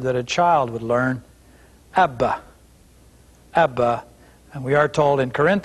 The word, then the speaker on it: Abba: or a more proper way to say it ABBA or the word would be daddy so Aleph